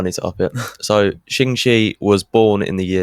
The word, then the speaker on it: Ching Shih: Ching Shih.